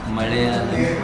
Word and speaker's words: Malayalam: Even the staff here was speaking in Malayalam. That's how it's supposed to be pronounced.